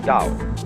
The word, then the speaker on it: Tao: pronounce it t but if there is no apostrophe you pronounce it Dao because our Scholars made